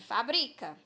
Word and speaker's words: fabrica: Na palavra aqui, fabrica, qual é a sílaba tônica? É o bri. Nós pronunciamos com mais tonicidade.